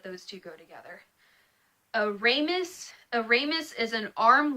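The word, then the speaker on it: ramus: two go together a Ramos a Ramos is an arm like bar of a bone so it's spelled are a.m. us so it's like ram us are a.m. ram us and if you ran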